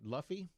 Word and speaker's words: Luffy: Luffy. That's what I think it is. Rhymes with Huffy.